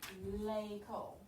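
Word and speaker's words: école: if there are rules one of the rules is this axon debut over an e it makes the pronunciation like a so lei cole so what is two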